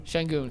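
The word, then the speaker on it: Şengün: Sengun, correct.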